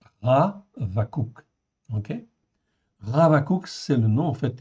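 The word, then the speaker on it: חבקוק: Donc je vous rappelle en fait en hébreu lorsque en fait nous avons ici un prime H, ça se prononce comme un R. Ravou. OK. Ravakou c'est le nom en fait hébreu.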